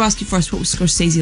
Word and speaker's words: Scorsese: Tell me how to say his name properly, because I've been saying it wrong. But Scorsese. Martin Scorsese. Scorsese, not Scorsese. Scorsese. Yeah, people say a lot of things, but it's Scorsese.